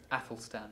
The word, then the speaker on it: Athelstan: Athelstan.